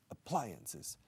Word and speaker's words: appliances: Leon Fisk on TT appliances appliances second syllable now modern appliances are